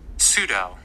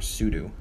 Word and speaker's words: sudo: this is called netfence how do you pronounce this pseudo pseudo so i do apologize pseudo um for the other tweak i just said ps with the ps eudos sudo right sudo sudo okay sudo all right next week's